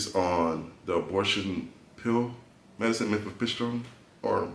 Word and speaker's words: mifepristone: the abortion pill medicine, mifepristone, or how you pronounce it? Mifepristone is how it is said.